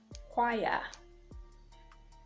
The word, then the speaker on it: choir: It is also silent after C in words like echo, choir, ache, and after the letter G in words like ghost, ghastly, and finally to the interesting letter I.